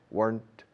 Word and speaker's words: weren't: If I weren't, if I weren't, una sola sílaba, weren't, no se dice weren't. If I weren't, rima con el pasado o el participio de quemar, burnt.